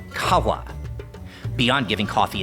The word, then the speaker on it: Qahwah: This would be pronounced kawa.